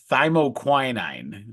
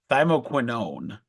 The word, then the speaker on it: thymoquinone: It's thymoquinine. It's thymoquinone. So it's in that similar family. It's not a huge deal that you don't know that. That's no big deal. But thymoquinone is the thing in